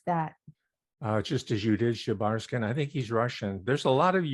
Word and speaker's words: Shebarshin: How would you pronounce that? Just as you did, Shebarskin.